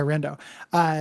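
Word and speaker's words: Riendeau: I mispronounced her last name, right? Riendo. Right? Riendo. Yeah, Riendo.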